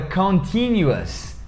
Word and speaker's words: continuous: Primeiro fala continuous, e no inglês não existe esse som de T, de tia, esse som não existe, é sempre o som de tia, em alguns lugares do Nordeste eles falam tia, né? Então, continuous, tem som de us, mesma coisa de delicious.